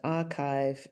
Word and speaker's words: arXiv: Now, archive is spelled a r capital x i v, where the x stands for chi, the Greek letter. Um and as we'll hear in this podcast, archive is a really important